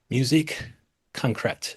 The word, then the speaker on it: Musique Concrète: It's called Musique Concrète. Is that correct? Perfect. Yeah, yeah, My yeah. You're a French pronunciation is.